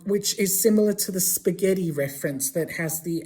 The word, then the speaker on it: spaghetti: So spaghetti in Italian is spelled with an H after the G. Why is there an H next to the G? Because otherwise it would have been pronounced spaghetti.